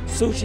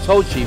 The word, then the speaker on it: Sochi: going to be held i'm not may not be pronouncing it right sushi sound right or something like that sochi shopping sochi maybe sushi sochi right that's right will you watch me